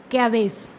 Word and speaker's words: CABG: जिसको हम बोलते हैं CABG। एक coronary artery bypass graft CABG, often called CABG, इसको शॉर्ट में CABG भी कहते हैं, एंड प्रोनाउंस्ड कैवेस, और इसको कैवेस भी कहा जाता है, इज कॉमनली